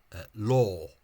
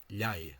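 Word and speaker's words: leá: Tangan to my recollection, the Munster speaker pronounces that as law, as if it were a broad L or like a vaguely neutral English L. Whereas what's actually said in Munster is liai, táimid de liaiama.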